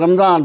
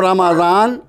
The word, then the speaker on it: رمضان: رمضان۔ اور ہم لوگ کیا بولتے ہیں؟ میم کو جزم کے ساتھ بولتے ہیں، رمضان رمضان رمضان۔ تو اس کو درست کر لیجئے، شہر و رمضان، مہینہ رمضان کا، الذی وہ جو،